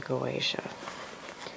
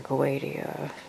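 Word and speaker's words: Goetia: Um then we got the 72 chaotic spirits of the Goatia or Goadia. Uh some people pronounce it like that.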